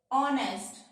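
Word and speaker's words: honest: इसी तरह से अगर एच के बाद ओ आ जाए तो एच साइलेंट हो जाता है। ऑनेस्ट, our, honour, honorary.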